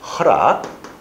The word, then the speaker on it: 허락: 그러니까 허낙, 수낙하면서 뒤에 니은음이 딱딱해졌어요. 그래서 이 순간에 여기다 뭘 적용한다고요? 활음조를 적용합니다. 이때는 그래서 허낙이 허락, 수낙이 수락 이렇게 쓰는 겁니다.